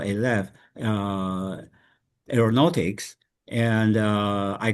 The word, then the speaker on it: Alef: First of all, we're not ALF, we're alf. It's pronounced a with an opening.